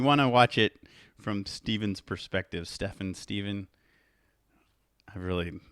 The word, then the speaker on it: Stephen: Steven yes yeah it's Steven A lot of people say Stefan which doesn't it doesn't bother me I'm kind of used to it in real life um but yeah the correct pronunciation is Steven oh sucess the ve